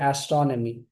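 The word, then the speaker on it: astronomy: एस्ट्रोनमी यस एस्ट्रोनमी एस्ट्रोनमी not Nomi Nomi नमी एस्ट्रो एस्ट्रोनमी यस एस्ट्रोनमी the adjective is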